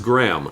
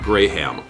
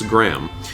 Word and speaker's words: Graham: is pronounced by the British and it is not grayham so just to be clear it's Graham it's silent it's a silent it's a silent H but let's be clear